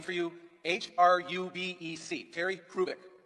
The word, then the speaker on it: Hrubec: I'm going to spell a name for you, H-R-U-B-E-C, Terry Hrubeck. The H is not pronounced, Terry Hrubeck.